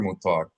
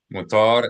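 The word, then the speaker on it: מותר: So you might actually recognize this word if we mispronounced it as mut. It's not mut. It's not mut. It's not mut. Yala. All right. So, mutar is permitted literally means released or unbound.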